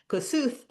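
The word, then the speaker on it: Kossuth: And um in Hungarian in in in English it's pronounced kosut. And I was always so amused that I came from the world where um I'm going to pronounce it the Hungarian way.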